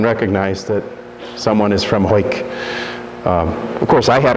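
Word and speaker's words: Hawick: Parish St Mary and St David's in it's pronounced hoik I'm sure you guessed that hoik that's just how it looks um and I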